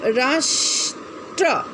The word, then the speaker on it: राष्ट्र: लेकिन चूंकि इसका उच्चारण छोटा है, तो इसे आप राष्ट्र, राष्ट्र हल्का सा निकल रहा है, मतलब आधा उच्चारण आप करते हैं, तो इसीलिए आप इसे आधा लिखेंगे, ठीक है।